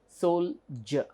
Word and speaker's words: soldier: as judge judge age here it is Soldier Soldier so we see the difference here it is d i e r but still the pronunciation is Soulja and here it is